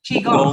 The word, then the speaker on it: Qigong: I'm going to say it wrong again. Qigong, right? Yeah, I got it right.